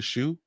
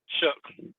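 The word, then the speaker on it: Tyler Shough: Now we go to Tyler Shoe. Come on, man. Shook. That's how you pronounce it? Yeah. So Tyler Shook for New Orleans.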